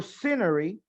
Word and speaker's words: scenery: Esa SC en escenario o en escenas solamente suena scenery, scenes. No le vamos a poner una E por delante. Ese es un error muy español, ¿ok?